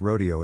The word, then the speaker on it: Rodeo: confused with Rodeo doctor this Rodeo is pronounced as spelled not with a fake accent like the one in Beverly Hills it's a long West